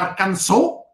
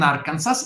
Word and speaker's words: Arkansas: uniti conquistando la canzone perché si pronuncia a canzo e non are kansas l'arkansas lo utah e